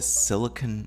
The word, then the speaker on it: silicon: major distinction is that we're talking about silicon and that's the way it's pronounced so we're not talking about silicone con but we're talking